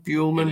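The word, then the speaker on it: Buehlman: is black Tong Thief oh buman is that how you pronounce his name buman it is I had I had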